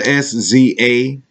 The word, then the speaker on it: SZA: It's SZA, SZA. Pronounced just like the RZA, the Jizza.